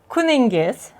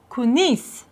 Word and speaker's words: kuningiz: Kuningiz, kuningiz. And here's a little tip. In Tashkent dialect, and in the capital city, we tend to shorten words. So, kuningiz can be pronounced kunis, kunis.